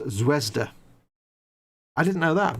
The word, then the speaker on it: Zvezda: with zvezda zvezda kits they're pronounced zwezda i didn't know that